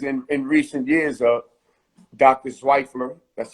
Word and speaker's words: Zweifler: Zweifler, that's how you say it, right? Yes, Dr. Zweifler, yes.